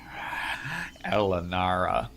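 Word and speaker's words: R'lyehnara: And it's pronounced like a rolling R with an L, like a sucking in, like a Elanara.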